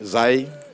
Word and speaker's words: ZAE: les d'accord ZAE ouis za on prononce ça comment za simple za ouais toujours d'accord ZAE et zaï comme le mot qu'on connaît en ni là ZAE